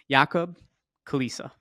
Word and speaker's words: Jakub Kulisa: is the co-founder and CEO of parcel AI yakob Kalisa did I get it right perfectly pronounced like you sound like as if we